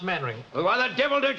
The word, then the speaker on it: Mainwaring: Actually, it's pronounced Mannering.